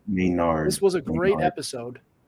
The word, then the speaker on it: Maynard: How do you pronounce it? Charisse? Yes. Charisse Maynard said Maynard.